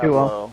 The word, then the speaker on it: Tableau: It's pronounced 1-2-0. Tableau. Tableau.